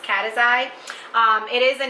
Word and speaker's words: Caceres: But you can reach out to me through love.cataxi, and that is pronounced Caceres.